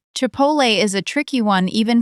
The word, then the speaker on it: chipotle: Chipotle is a tricky one even for native speakers. It is a smoked chili, and it is pronounced roughly chipotle.